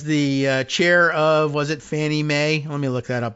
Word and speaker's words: Fannie Mae: That accounts for the weird pronunciation. Fannie Mae, FNMA. Federal National Mortgage Association.